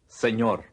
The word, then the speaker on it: señor: is, Señor, the N with the tilde in señor, is much like the sound produced when the words can and you are pronounced together. Can you?